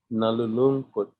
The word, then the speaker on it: nalulungkot: Lungkot, nalungkot, nalulungkot, nalulungkot, and then malulungkot, Yes, malulungkot. malulungkot. Nalulungkot. Okay, the accent, the last syllable, right?